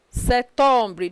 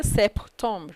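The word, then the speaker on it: septembre: you september is september se tumbri don't pronounce p don't say sep tomb no let dp be silent september october becomes october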